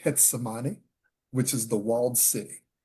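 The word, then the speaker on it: Getsemaní: And it was late, and we were in it's spelled Gethsemane, but they pronounce it Getsemane, which is the walled city in Cartagena.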